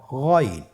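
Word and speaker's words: غين: গইন হরফটি উচ্চারণ করা অবশ্যই 3 আলিফ টেনে পড়তে হবে এবং আমরা জানি যে গইন হরফটি মোটা হরফ, অবশ্যই একটু মোটা করে বলতে হবে।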